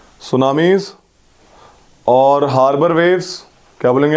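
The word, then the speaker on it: tsunamis: High vertical waves are called सुनामीज, TSUNAMI, T silent होता है, सुनामीज।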